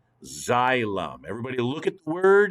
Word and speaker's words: xylem: xylophone in music class well this word is pronounced like a z zylum xylem everybody look at the